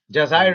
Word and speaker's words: Jazair: In Jazair. Jazair is how it's pronounced.